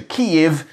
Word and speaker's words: Kyiv: And the city known as Kiev in Soviet times officially changed to Kyiv in 1995. So we've had 27 years to get used to it and to pronounce it correctly.